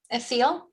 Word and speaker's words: Thiel: Thiel, am I saying it right? That teal is good. It's the hard T sound.